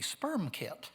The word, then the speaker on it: SPERMKT: And if you're going to pronounce it, it has to be sperm kit.